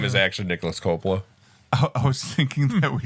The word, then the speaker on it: Coppola: Coppola? Coppola. Coppola, yeah. I mispronounced his last name because You it did.